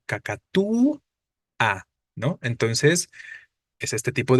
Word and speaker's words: cacatúa: la a en cacatúa Pero cuál es la tónica pues la débil la u cacatu a no Entonces es este